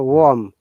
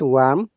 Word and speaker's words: warm: is warm yeah remember warm wa is o sound not wa not worm worm warm worm so